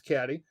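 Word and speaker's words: Cady: So, Mean Girls follows the story of Caddy, often pronounced Katie in the film because they don't want to listen to her. Her name's Caddy, and she is the new girl.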